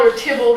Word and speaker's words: Theobald: to catch it out theobald archbold as his name is usually pronounced sharply criticized Pope's addition